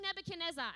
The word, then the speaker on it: Nebuchadnezzar: his name is King Nebuchadnezzar and I don't get how parents named their kids in the Bible I don't pretend to know why he has NE five syllables feels like too many syllables does it not does